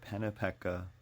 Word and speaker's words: Pennypack: The Swedish, Dutch settlers, who pronounced the word Pennypecka, meaning slow, dark, dead, downward flowing water.